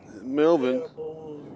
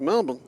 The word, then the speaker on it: Melbourne: Most people say Melbourne, Melbourne. It's Melbourne. Noah Williams is joining.